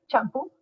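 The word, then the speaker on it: Champú: And right now, I'm working on another novel that I hope to finish this summer called Champu, spelled in the Spanish, Champu with an accent on the U, Champu, or Hair Matters.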